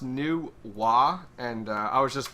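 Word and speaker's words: Nu Wa: it's how is it nuwa yeah i guess it's pronounced new wah and uh i was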